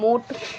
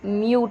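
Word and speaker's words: mute: यहाँ हम मूट या मट नहीं पढ़ रहे हैं, म्यूट पढ़ रहे हैं।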